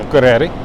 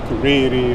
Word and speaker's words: Akureyri: Akureyri. Yeah, it's not Akureyri or Akureyri. Yeah. Always that first syllable.